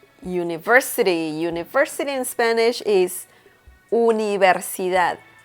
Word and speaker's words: universidad: University in Spanish is universidad, universidad. Okay, so remember that the V sound in Spanish, it's pretty much non-existent. So you pronounce the letter V as B in Spanish.